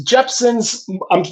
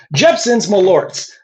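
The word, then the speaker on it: Jeppson's Malört: Rick just gave me a bottle of this Jeepson's. I'm I'm saying it right. Right. Malorts. Correct. Okay. Jeepson's Malorts.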